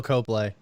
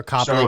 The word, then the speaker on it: Copley: It's Charlton Copley. Or Copley, whatever.